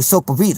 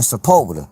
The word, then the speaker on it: Sepulveda: They be like Sopavita. You know what I'm saying? They be like, Sopavita? And I have to let them know, like, nah, man, Sepulveda.